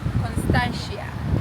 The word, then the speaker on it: Constantia: Yeah, we we are currently um in Constia. I don't know if I'm pronouncing it correctly, but yep. Constantia.